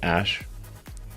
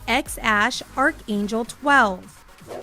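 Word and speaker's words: X Æ A-12: X um and then the AE is like pronounced Ash um yeah and then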